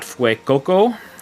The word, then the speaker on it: Fuecoco: Next, we've got Fuecoco, which I gotta say it like you're saying it with your Spanish accent, you know, Fue. Makes you think like in Fuego, on fire, you know.